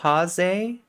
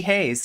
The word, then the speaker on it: Hayes: Her surname is pronounced Haze. Oh, Haze. Lucy Haze? It's not Lucy Hayes.